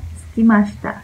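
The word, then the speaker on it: 空きました: Usualmente cuando se dice suki, como que la U no se pronuncia. Después vamos a ver que suki la van a estar escuchando mucho y no se pronuncia la U.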